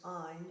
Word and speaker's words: Ayn: popularly known but her first name is actually pronounced an it's a YN she immigrated from Russia to